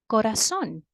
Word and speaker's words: corazón: For example, the word corazón. Corazón, as we already saw before, is an aguda word because the strongest part of the word is the last syllable, corazón.